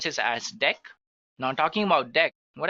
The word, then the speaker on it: deque: It is written as d q, but we can pronounce this as deque. Now, talking about deque, what actually it is used for? So, deque, pronounced as deque, is an optimized list to perform insertion and deletion easily.